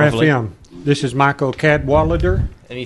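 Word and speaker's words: Cadwaladr: And actually, if you pronounce our name in pure Welsh fashion, it's Cadwallader, because a double L is a cl sound.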